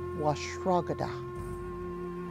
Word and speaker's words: washrogada: And we call that broth, or that soup, or that corn drink, washrogada, washrogada. Now we're getting a little more complicated. We've got four syllables in this word.